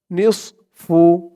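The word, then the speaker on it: نصف: ধরবে কুম ওয়ালাকুম ওয়ালাকুম নিসফু নিসফু নুন দিয়ে সদ ধরবে উচ্চারণটা খেয়াল করবেন নিস একেবারে নিস এমন হবে না কিন্তু নিস বললে এই সদের জায়গায় সিনের উচ্চারণ হয়ে যায় বলতে হবে মুখটা একটু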